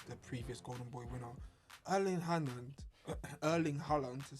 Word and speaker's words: Erling Haaland: Erling Haaland, to say it correctly.